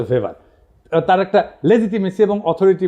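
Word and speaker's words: Weber: আরেকজন দার্শনিক আছে ম্যাক্স ভেভার এটা ওয়েভার বলে অনেকে এটা উচ্চারণ আসলে ভেভার তার একটা লেজিটিমেসি এবং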